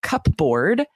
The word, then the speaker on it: cupboard: So the next one is cupboard, which sounds like it would be spelled with BB. There's a silent P in the middle. Literally, it's cupboard, right.